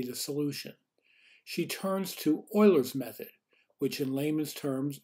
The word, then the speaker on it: Euler: that might be the solution she turns to euler's method which in layman's terms allows the mathematician to approximate a differential equation numerically without actually ever really solving it in this video we learned how to perform euler's method and solve the same types of problems